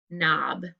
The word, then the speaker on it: knob: it's this one guys it's the kn so let's underline the kn and the k is